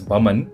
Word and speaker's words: Boman: You actually pronounce it as Baman, even if the spelling has O in it.